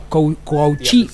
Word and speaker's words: Kouachi: Sus nombres, Said Kouachi, así se pronuncia, es el mayor de ellos, el de 34 años.